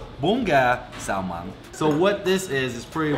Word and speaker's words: Bún Gà Xào Măng: Like what actually pronounced Bún Gà Xào Măng.